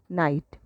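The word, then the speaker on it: knight: नाइट नाइट same sound इधर पे के साइलेंट है।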